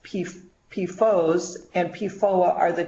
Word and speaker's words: PFOS: They have been manufactured and used since the 1940s, and PFOS, pronounced PFOS, and PFOA are the 2 that are most studied and the 2 that you hear the most about.